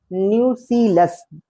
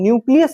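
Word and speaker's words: nucellus: ये पोर्शन कहलाता है न्यूसीलस। बिल्कुल ही इसमें करेक्ट प्रोनाउंसिएशन होना चाहिए, क्योंकि मोस्ट ऑफ द स्टूडेंट्स क्या होते हैं न्यूसीलस की जगह पर न्यूक्लियस बोल देते हैं। तो ये क्या है, न्यूसीलस है।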